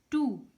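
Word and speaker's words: two: टू, यहाँ पे W silent है।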